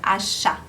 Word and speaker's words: achat: Temos aqui plat achat, de compra, achat. Mesma coisa, você tem o T no final, mas esse T não se pronuncia.